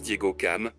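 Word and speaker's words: Diogo Cão: 1482 par le portugais Diogo Koo d'autres le prononcent Diego cam peut-être une francisation de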